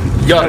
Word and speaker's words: Jari: Is that how you pronounce your name? Yari.